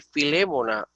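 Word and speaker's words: Φιλήμονα: Mira, por ejemplo, miren este nombre, prosfilémona, óyeme, filémona, una palabra esdrújula, pero en castellano decimos filemón.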